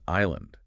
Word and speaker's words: island: word insula, which means island. So they just jammed an S in there, creating island. It's completely unhistorical, but it's stuck.